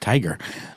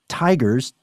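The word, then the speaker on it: TIGHAR: tiger or tiger yes with GH though TI i g h a r I still think that's pronounced tiger and it's an organization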